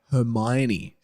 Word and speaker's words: Hermione: I know it's actually pronounced Hermione.